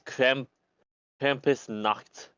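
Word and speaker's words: Krampusnacht: I'm not going to try to pronounce that because it's German. The English one is Krampus night. No, it's Krampus Nacht.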